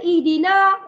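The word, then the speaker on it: اهدنا: betul ya membacanya dua tetapi kita bila kita nak sambung bacaan kita berjumpa dengan alif lam selepas na ada alif lam makanya bacaan kita ihdina dia na tu kena masuk ke alif lam makanya Na tak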